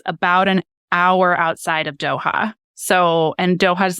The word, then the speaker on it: Doha: And how do you pronounce it? Doha, Qatar.